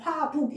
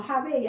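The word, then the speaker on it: 華北: 그죠 어 우 환자를 우리 발음으로 하면 화북 이렇게 읽고이 중국 발음으로 하면 화베이 알겠나 화웨이로가 가지고 조선 의용대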